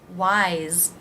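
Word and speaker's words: why's: Wise, wise. Again, it's pronounced like a Z sound. It's pronounced just like this word, wise.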